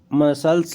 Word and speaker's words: muscles: इसके बाद मसल्स लिखते हैं, मसल्स MUSCLES लिखने में तो है, अगर राइटिंग करेंगे तो है, प्रोनाउंसिएशन में बस इसका साइलेंट रहता है, इसीलिए इसके बगैर अनकम्प्लीट रहता है।